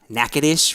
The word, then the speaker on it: Natchitoches: Thibodeau, Natchitoches, right? Natchitoches. Even though it's not spelled like that at all.